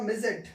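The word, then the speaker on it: midget: अगला जो है इसका उच्चारण क्या होगा भाई, इसका होगा मिजेट।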